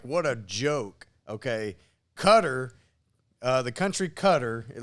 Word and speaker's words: Qatar: what a joke okay cutter uh the country cutter it looks like i always pronounce it qatar q-a-t-a-r but it's pronounced cutter um there was a